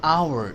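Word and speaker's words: hour: an apple an एग एन एन of view N orange N umbrella an आवर H silent है तो ओ आ गया तो ओ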